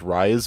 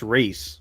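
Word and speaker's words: Rhys: I kind of hate when uh cuz the character this character's name is Rise, but it's spelled RH YS. I kind of hate that that's that's pronounced Ree.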